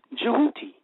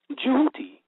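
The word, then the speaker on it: Djehuti: Matter of fact, the word Tahuti, when it's actually is said, coming from the Metuneter, or the Metuneter, it says, is pronounced Jehuti. Jehuti. And it's spelled D-J-E-W-H-U-T-I, or T-Y.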